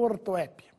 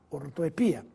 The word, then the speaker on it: ortoepia: se falar e escrever pois está correta com ou sem acento mas se quiser seguir o seu professor de português Fale sem acento Pois é a forma mais usual ortoepia Projétil ou projetil novamente